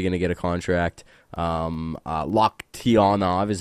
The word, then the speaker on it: Loktionov: Loktionov is how you say that.